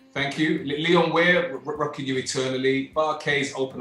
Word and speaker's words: Leon Ware: Pronounced Leon it Ware, right. thank you. Leon Ware, Rocking You Eternally, Bar-Kays, Open Up Your Heart,